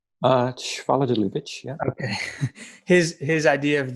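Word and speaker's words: Schwaller de Lubicz: Schwaller de Lubitsch, yeah.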